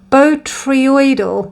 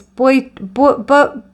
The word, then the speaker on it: Botryoidal: And pile 3 is this Botryoidal. I realised I've been saying it wrong. It's Botryoidal or Botryoidal haematite.